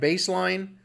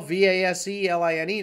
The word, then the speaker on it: Vaseline: You know, like baseline, like a baseline in a song, Baseline. Well, Vaseline to me is baseline, but it's pronounced Vaseline.